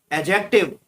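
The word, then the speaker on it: adjective: Fourth में एडजेक्टिव, एडजेक्टिव में D silent रहता है, डी को अंडरलाइन किया गया है।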